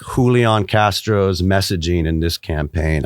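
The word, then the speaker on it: Julián: well first of all I applaud your pronunciation as Julion because I was saying Julian coming in here but you're right that's that's a good Spanish pronunciation there yeah I we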